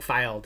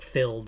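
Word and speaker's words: Fylde: I don't think filed is filed. I think it's like filled or filled a or anyway.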